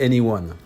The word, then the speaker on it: e:Ny1: pour le moins malvenus il paraît que cela se prononce en réalité anyone le plus dur ici